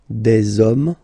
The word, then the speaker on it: hommes: You don't pronounce it, so you get des hommes, okay? Un homme, singular form, des hommes, plural form, okay?